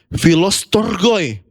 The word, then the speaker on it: Philostorgoi: Dia pakai kata Philadelphia dengan Philostorgoi. Oke, bacanya seperti itu. Philadelphia yang di bold dan Philostorgoi.